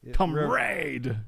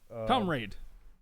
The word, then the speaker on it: comrade: Like comrade. Very questionable how that's said. Hearing certain other things that you might want to pronounce the O more like an O instead of a U.